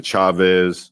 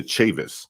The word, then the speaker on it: Chavis: pronounced seven different ways some people call them the chavez but they're actually the chavis c-a-a-v-i-s but you've seen